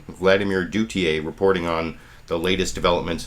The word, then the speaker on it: Duthiers: His name is Vladimir, I think his last name is pronounced Duthiers, Vladimir Duthiers, reporting on the latest developments in Ferguson, Missouri from CBS's Face the Nation this morning here.